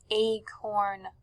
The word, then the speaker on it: acorn: be looking at our Acorn card everyone say acorn Acorn notice how when you hear the a in the beginning it sounds long not like the word Apple that has a short a we hear Apple an